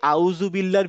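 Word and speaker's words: أعوذ بالله: বলি না হুম এই আউজুবিল্লাহর ভিতরেও কিন্তু এই দা টাই আছে আমরা বলবো হচ্ছে আউজুবিল্লাহ তার মানে জীবটা আমার দাঁতের ঠিক জীবটা দাঁতের ঠিক মাথায় লাগিয়ে অনেকটা দালের মত উচ্চারণ করবো মানে ঠিক আমার উচ্চারণটা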